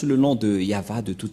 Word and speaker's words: Yahvah: Mais en lecture normale, on le lit Yahva.